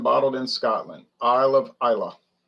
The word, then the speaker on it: Islay: in scotland i love isla looks like islay but they pronounce it isla yeah i'm like you